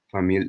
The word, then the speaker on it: famille: Le famille Gainsbourg est un véritable famille d'artistes. Famille. La double L ne se prononce pas.